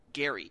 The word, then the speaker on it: Gerry: was actually named after his name was was was Gary it's spelt that way ger her why but it was pronounced Gary for some reason so everybody was like